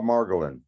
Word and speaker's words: Margolin: steady rolling bob margolin they could kind of take a hint from the role in how the last name is spelled but the name mar golin seems to be almost impossible for some people to say yeah no i think